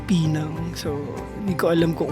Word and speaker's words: Penang: Yung pronunciation pala ng Penang, it's not Penang, it's Pinang.